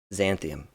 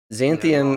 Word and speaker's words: Xanthium: You guys are all on the planet Xanthium. Xanthium. Rhymes with Zorn.